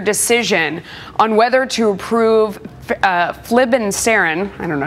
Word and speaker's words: flibanserin: It's called flibanserin. Flibanserin is the way it's pronounced.